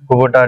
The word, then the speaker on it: Kubota: को company tractor एटा कुबोटा company tractor actually आमे यार प्रोनाउंसिएशन भूल करछन समस्ते। अच्छा एटा कुबोटा नुवा कुबोटा गोनसोर कुबोटा जे कि